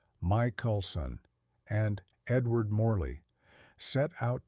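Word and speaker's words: Michelson: In the year 1887, two American physicists, Albert Michaelelsson, pronounced Mike Coulson and Edward Mley, set out to detect the Earth's motion through this ocean.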